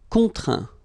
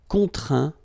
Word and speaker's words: contraint: Contraindre, contraint. Plaindre, plaint. Okay, and as usual, final T here is not pronounced, so you get craint, contraint, plaint. Okay.